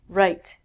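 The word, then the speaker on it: write: the same as this again we don't say the W and last one wrist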